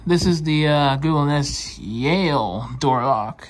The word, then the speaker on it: Yale: This is the Google Nest Yale door lock. How is it pronounced?